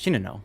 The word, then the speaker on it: Shinano: 100% primary interest is shinano by the way if you watch the the naval Legends video It's pronounced Chino somehow I don't know why all right so I